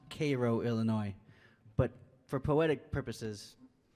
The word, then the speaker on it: Cairo: very bottom tip of Illinois called um it's pronounced Koo Illinois but for poetic purposes for poetic purposes I uh I decided to pronounce it Cairo because it rhymes with maybe my favorite part